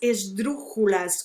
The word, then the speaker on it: esdrúxula: Uma esdrúxula, a palavra esdrúxula é uma esdrúxula. Sílaba tônica é a terceira.